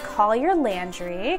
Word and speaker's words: Collier Landry: His name is Collier Landry, correct? Yes.